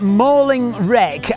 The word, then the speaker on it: Malling Rec: I'm going to get a mauling if I pronounce it incorrectly. We're at Mauling Wreck.